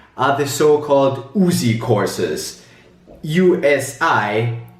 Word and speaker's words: USI: USI, pronounced USI in German, the University Sport Institute.